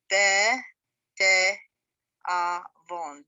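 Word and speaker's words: בתיאבון: Because the shva at the beginning here is basically a syllable in itself. Be, te, avon.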